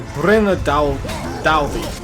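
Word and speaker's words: Brenna Daudi: So Brenna Daldi, which is how you would say that. It says it's kind of like you're reading it Daldi, but that D would be pronounced with the like the thorn.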